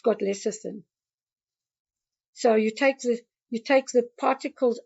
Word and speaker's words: lecithin: I used to call it lectin or something like that. I think. Oh, okay. Yeah, I Okay. mean, Yeah, it's lecithin, yeah.